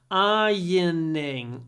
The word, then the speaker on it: ironing: I hate ironing maybe you'll need to practice pronunciation here ironing iron I hate it I hate ironing these